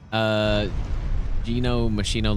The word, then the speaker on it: Gino Machino: Pronounced it Gino Machino, like machine.